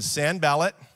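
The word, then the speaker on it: Sanballat: you to see what happened to nehemiah when san ballot and tobiah i looked up how to pronounce it that's how you say it when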